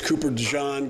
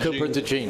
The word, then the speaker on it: Cooper DeJean: He did not play particularly well, and I think as Cooper DeJean gets more comfortable and learns the slot. You just gave it the French pronunciation, but it actually is pronounced as spelled Cooper DeJean.